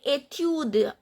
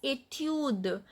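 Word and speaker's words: étude: So etude, we skip this pronunciation of e, but d is pronounced.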